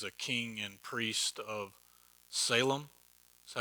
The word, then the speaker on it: Salem: melchizedek melchizedek is a king and priest of salem that's how we pronounce it because it looks like salem down the road from here but it's uh shalim it's ancient jerusalem before it was called jerusalem